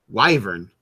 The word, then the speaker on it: wyvern: I where we go the official pronunciation of webern is wyvern why Doug oh because Matt Mercer said so alright okay what are